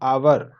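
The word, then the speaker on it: hour: Rajan is dash आवर late, तो यहाँ आवर इसका वोवेल साउंड से उच्चारण है, आर्टिकल फिल करना है।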